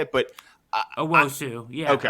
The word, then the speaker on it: Owusu: Owosu, yeah. Okay. Owosu, yeah.